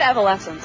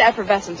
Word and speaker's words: Evanescence: You said Evanescence. I heard that. You said Effervescence earlier, too. It's so hard to pronounce.